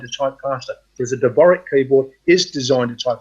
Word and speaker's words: Dvorak: What about a Dvorak keyboard? That's the one I was actually trying to think of. Bev, I didn't know how to pronounce the word. Dvorak keyboard.